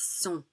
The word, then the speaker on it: sont: It's sont. We don't pronounce the final T.